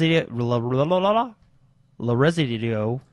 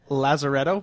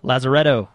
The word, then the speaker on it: Lazaretto: love and fun Jack White I can't even pronounce that L res L resido I don't even know Lazar Jack White's goingon to be in the game Lazaretto Lazaretto there you go man all the audio files